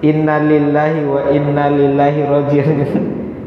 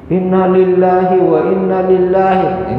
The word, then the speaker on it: Inna lillahi wa inna ilaihi raji'un: Inna lillahi wa inna ilaihi raji'un. Ya kadang gitu ya. Kadang kan sering di inna lillahi wa inna lillahi. Ini salah ini.